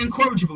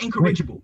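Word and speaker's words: incorrigible: It's incorraable, not encouragable. Wait, wait, wait, wait.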